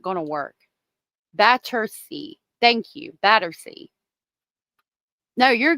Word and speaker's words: Battersea: Battersea. Thank you. Battersea. No, you're good. I appreciate the corrections because I mispronounce things all the time.